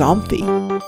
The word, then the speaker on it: OMFI: omf open media framework also known as omfi open media framework interchange often pronounced as amphi opening an omf file